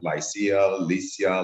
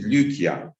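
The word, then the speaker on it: Lycia: uh one clarification that westerns always are confused with the name and they call it lisia lysia uh in many ways but proper pronunciation is lucia uh because the y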